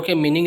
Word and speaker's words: calm: Okay, उसके बाद अगर आखिर में एल और एम आता है और उसके आगे ए आता है, याद रखना, तो बीच में जो एल है वो पढ़ ही नहीं पाएंगे आप, वो साइलेंट रहेगा।